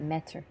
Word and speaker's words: Metyr: I gotta say it right, Metyr.